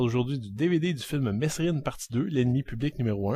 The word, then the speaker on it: Mesrine: sur le célèbre hypermédiatisé gangster jacques mesrine prononcé mérine si le premier opus